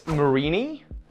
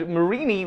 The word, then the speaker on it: Mareanie: And that's Mareanie. Is that how you say its name? Hang on, I gotta look this up. Yeah, because it's a marine meanie, and I think what